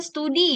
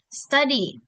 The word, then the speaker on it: study: Jadi bukan studi ya. Kalau biasanya kan kalau kita dalam bahasa Indonesia kita bilangnya studi, saya lagi studi di ini segala macam. Tapi kalau dalam bahasa Inggris bacanya study, study.